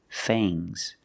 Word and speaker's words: fangs: sharp teeth are called fangs use a long a plus the nasal sound and a soft G fangs fangs and the S is making a zebra sound Z but it's soft fangs fangs the snake